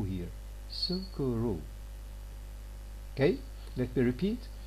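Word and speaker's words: スクール: is the o here sukuru okay let me repeat for japanese club and school will be pronounced as kurabu and sukuru respectively what does this mean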